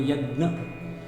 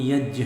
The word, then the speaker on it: यज्ञ: यहाँ एक बात बता दें कि बहुधा हम यज्ञ शब्द है उसको यज्ञ या यज्ञ बोलते हैं। दक्षिण भारत में यज्ञ और उत्तर भारत में यज्ञ, और किंतु यहाँ सही उसका उच्चारण यज्ञ है, क्योंकि इसमें ज इ ये संयुक्ताक्षर है तो उसका सही स्पष्ट उच्चारण होगा, सही उच्चारण यज्ञ, क्योंकि यह भाषा का